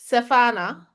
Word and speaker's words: Shifana: Your name is Shifana. Did I pronounce it right? The H is silent. Okay. Safana.